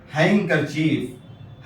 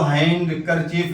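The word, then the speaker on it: handkerchief: Shirt shirt अलदी रुमाल हैंगकर चीफ हैंगकर चीफ इसमें डिसाइलेंट है। इसको हैंग कर चीफ नहीं पढ़ेंगे बल्कि हैंगकर चीफ ये डी साइलेंट है।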